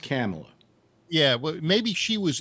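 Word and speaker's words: Kamala: i wonder you know camilla camilla harris always kind of giggles and laughs and uh it's pronounced camella yeah well maybe she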